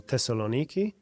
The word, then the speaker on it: Thessaloniki: We're here in Thessaloniki.